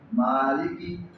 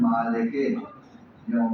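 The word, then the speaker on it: مالكِ: الرحیم مالکی یوم الدین۔ اچھا ہم پاکستانی جو ہے اس کو پڑھتے ہیں مالک یوم الدین، مالک بھی ٹھیک ہے لیکن عربی لہجے کے مطابق پڑھیں گے تو مالکی ٹھیک ہو گیا، ہاں مالکی، لیکن لمبا نہیں کرنا، لی وہ لام زیر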